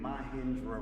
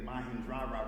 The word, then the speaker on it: Mahendra: I was saying Mahindra at first, but uh he helped me out.